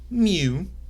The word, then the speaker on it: mu: called mu that it's a Greek letter mu pronounced mu okay now what it means what mu is